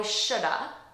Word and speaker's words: should have: So here, I shoulda saved. So really, it's should have saved. I should have saved more money, but naturally, I'm going to pronounce this as shoulda.